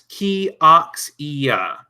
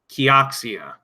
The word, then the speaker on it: Kioxia: Okay, they do have how to pronounce it here. It's Kioxia. Kioxia.